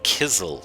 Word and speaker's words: Kaisel: Now, in the other media, and in this particular instance, Kaisel Plateau is pronounced incorrectly. It is pronounced as Kizel Plateau.